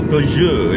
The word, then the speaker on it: Peugeot: So you say it, you think of the French food, and you think of the French wine, and you go the so Peugeot, you know, Peugeot, Citroën, yes, that's how you say it, Citroën.